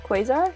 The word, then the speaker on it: Quasar: this one shooting Quasar Quasar is how you say it dragon I'm excited I